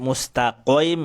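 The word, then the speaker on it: مستقيم: Nah, ini kalau sampai mustaqim, nah ini dulu fasih sekali ya. Ternyata ini adalah cara pengucapan huruf qaf yang keliru. Jadi huruf qaf itu cukup dari pangkal lidah saja, nggak perlu sampai tenggorokan main.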